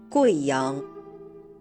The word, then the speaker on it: Guiyang: In the name of this province and its capital, the U plus I is pronounced Wei, not we. Listen. Guizhou. Guiyang.